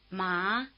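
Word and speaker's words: má: Notice that the tone mark in the romanization rises from left to right in the direction your eyes are moving as you read.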